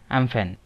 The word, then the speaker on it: Amphan: अब cyclone एम्फन, या आप इसे प्रोनाउंस करिए साइक्लोन एम्फुन, ये एक ट्रॉपिकल साइक्लोन है जो बे ऑफ बंगाल में रीजन।